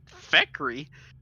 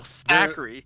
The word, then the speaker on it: Thackeray: The first time I told Drayton my character's name, he and Feck were like, "What? Feckery? It did. No, Thackeray." There are still sometimes when Drake pronounces it real quick, and I think he's saying Thackeray instead of Thackeray. TH is very close to a F or a PH.